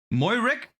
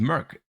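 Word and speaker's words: Moerk: and everybody's favorite monster is that how you say it Mo Rick no shot it's just Merc two copies of pter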